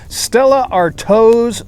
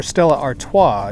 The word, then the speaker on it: Stella Artois: up this round is stella artos solstice lager or stella artois if you want to pronounce it correctly 4.5 alcohol this is